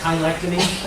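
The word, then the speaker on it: cheilectomy: So debridement of the joints, this is a kind of a word that a lot of people mispronounce. It's chylectomy, which is used for hallux rigidus.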